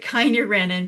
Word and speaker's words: kynurenine: So I pronounce it kynurenine because I want you to remember, me.